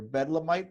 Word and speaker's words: Bedlamite: Bedlamite Publishing.